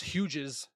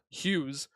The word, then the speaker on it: Hughes: just terrible I mean people pronounce my last name as Huges when it's Hughes so um after the